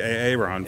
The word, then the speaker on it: Aaron: So I'm sitting here with Aaron, right? Did I say it right? Yep. It's not AA Ron? Nope.